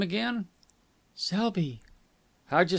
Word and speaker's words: Selby: to be helpful what was the name again Selby how'd you spell it s e lb y s e lby